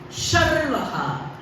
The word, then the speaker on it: Sharvah: Be very careful when you pronounce, because Sanskritam is highly phonetic. So, if you say Sharvah, it means the destroyer. When you say Sarvah, it is the all.